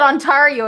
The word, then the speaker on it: Ontario: You said Ontario. It's Ontario.